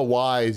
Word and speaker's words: Ys: ease game oh wise you mean you're mispronouncing it it's wise i know it's hard to pronounce no why is this a potato chip right ease on down the road why my ohio accent calls it ease no it's wise x is how you say it monstrum knox good perfect